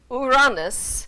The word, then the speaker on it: Uranus: of the sky was Uranus so in Greek that first syllable would be pronounced as an ooh not a u now you latinize it